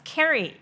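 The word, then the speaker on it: Kerry: For example, I talk about this curry business, curry ใช่ไหมคะครูก็บอกว่าบริษัทสีส้มๆที่ทำ delivery ชื่ออะไรคะ curry ใช่ไหม alright but actually it's pronounced as carry carry like Tom and Jerry ใช่ไหมแล้วก็เรือ ferry เราก็พูดเรือเฟอร์รี่เวลาครูพูดกับเพื่อนครูก็พูดเรือเฟอร์รี่ครูไม่เคยบอกว่าแกไปเรือเฟอร์รี่กันเถอะ คนก็จะอะไรเนี่ยแล้วก็มีคนบอกว่าก็เขาชื่อบริษัทเคอรี่คุณจะไปแก้อะไรครูก็บอกว่าเอ้าไม่ได้ว่าอะไรค่ะครูก็เรียก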